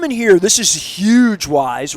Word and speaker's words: Weis: of Perry Hall and we didn't even know how to say it we called it whis you know I didn't I just didn't know there were no other wise markets around and really